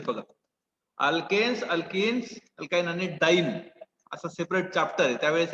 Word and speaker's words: diene: So how it is pronounced, buta 1,3-diene, DIENE, डाईन. असं ADIENE जरी लिहिलं तरी असतं त्याला प्रोनाउन्स काय केलं जातं, डाईन प्रोनाउन्स केलं जातं, डाईन.